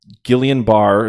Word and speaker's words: Guillain-Barré: center Travis Frederick's battle with, I think it's Guillain-Barré is how it's pronounced, syndrome could cost him multiple weeks of the season, if not the entire season.